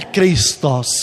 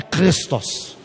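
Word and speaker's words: Χριστός: Por exemplo, a pronúncia de Cristo mesmo em grego não é Christos, como a gente fala, Christos e esses Cristos, não é assim não, é Christos. São pronúncias guturais, são palavras guturais que tem em hebraico e tem também em grego e existe também em árabe. Então é Christos, uma palavra gutural, é o que não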